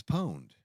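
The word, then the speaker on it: pwned: But I'm saying like when I'm spelling it out phonetically, it's poned. It's po. It's just like owned but with a P word.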